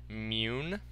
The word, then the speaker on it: Mun: It's actually mune. That is the correct pronunciation, mune. I heard that from one of the developers in a stream that I watched of the game. So, mune. I will try to call